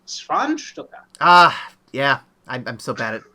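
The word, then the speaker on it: Schwanzstucker: We end with the monster having found a wife, and Froderick, now married Inga, with his Schwarzstocker having been enhanced by the procedure. It's pronounced Schwanstucker.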